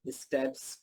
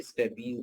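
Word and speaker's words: stapes: स्टेपीज, ये 3 bones, स्टेपीज को स्टेप्स भी बोलते हैं और स्टेपीज भी बोलते हैं, प्रोनाउंसिएशन डिफरेंस है, बोन एक ही।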